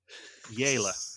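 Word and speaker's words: Jelle: Yela is his name. Spelled like jelly, but with an E instead of a Y at the end.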